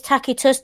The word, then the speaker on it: Tacitus: And it is Tacitus, don't come at me, it's a hard C in Latin.